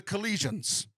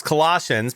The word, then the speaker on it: Colossians: We were at Mass and, the person doing one of the readings said a reading from a letter to the Colossians.